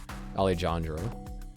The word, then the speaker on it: Alejandro: But yeah, that's definitely part for Alejandro, which is actually how you say his name, Alejandro.